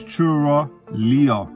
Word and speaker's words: Chura Liya: got maga frenzo harami and this one from pronouncing it correctly is churra lea it's produced by s t y m sub